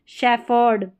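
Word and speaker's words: shepherd: के कॉम्बिनेशन को फ, PH को प भी पढ़ते हैं, रेयर का मतलब बहुत कम जो स्पेलिंग्स हैं उनमें, जैसे शेफर्ड, क्या है, शेफर्ड, और कपबर्ड, यहाँ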